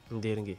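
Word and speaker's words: Nderngue: Et puis N-D-E-R-N-G-U-E. Ndirgué. Donc, Ndirgué qui s'écrit N-D-E-R-N-G-U-E.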